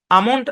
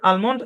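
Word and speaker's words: almond: আশা করি বুঝতে পেরেছেন এই শব্দের উচ্চারণ আমন্ড আলমন্ড দুই ভাবেই হবে যে হাত নামান ভাই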